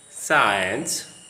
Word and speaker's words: science: C is silent after an S and before an E or an I, as in the following words coming to the screen: seen, science, scissors.